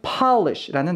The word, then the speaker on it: polish: 자, 이것과 비교가 되는 것이 이제 매니큐어를 의미했던 polish라는 단어이죠. 아 발음을 갖고 있다는 걸 생각해 보시면서 이와 같은 발음을 갖고 있는 단어들로는 not, hot, stop 이 있다는 것 같이 공부를 해주세요.